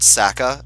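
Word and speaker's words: Sacae: wait here for me I'm pretty sure it's pronounced saaka or it is in the Japanese version where you have the Katakana to show you how things are pronounced oh no Bandits they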